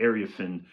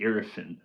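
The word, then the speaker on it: Iriafen: They got backto-back picks this year and made backtoback picks in Sonia Satron and Kiki Arifin. I've been saying her name wrong. I've been saying, but it's Kiki Arafan.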